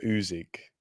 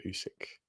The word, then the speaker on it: Usyk: is just it's legendary oxlander oxlander uzik instead of alex alexander usyk g-man joe hanks beats